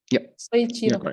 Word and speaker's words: Soichiro: How is the correct pronunciation? Yeah. Soichiro.